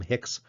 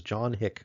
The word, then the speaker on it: Hick: the biggest mistakes is people will tend to call him Hicks, right? Hicks, right? Put an S on the end there. That's not actually the way his name is spelled. His name is John Hick, right? And so you might talk about Hick's Theodicy, right, with an apostrophe S, but the name is John Hick. Just No S in there.